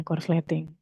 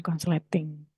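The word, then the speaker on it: korsleting: resleting ya tapi corting nah itu yang benar Bahasanya corsting Bukan consleting gitu ya jadi memang sebenarnya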